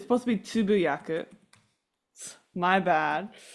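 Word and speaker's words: つぶやく: I said tsubayaku, which, so I'm not pronouncing right. It's supposed to be tsubuyaku.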